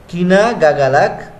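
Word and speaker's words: Ikinagagalak: কিনা গাগালাক উচ্চারণটা হবে কিনা গাগালাক কিতাং মাকিলালা।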